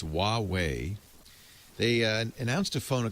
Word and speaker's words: Huawei: It's Huawei.